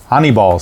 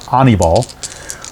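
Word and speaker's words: Aníbal: birdie facing anabol sanchez honeyball sanchez i think it's how it's actually pronounced i think his first name is pronounced honeyball so anibal sanchez pitching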